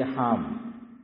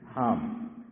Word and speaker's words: حم: نہیں صحیح نہیں، الگ الگ ہوگا۔ دیکھو میں لکھوں ہا اور میم، اس کو پڑھا جانا چاہیے حام۔ کیا پڑھا جانا چاہیے؟ حام۔ جیسے الف لام، چلو